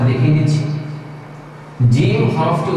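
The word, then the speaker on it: ج: আবারো আয়না দেখিয়ে দেখিয়ে আপনাদেরকে উচ্চারণটা দেখিয়ে দিচ্ছি জিম হরফটি উচ্চারণ করা হবে জিম জিহ্বার মধ্যখান ঠিক এই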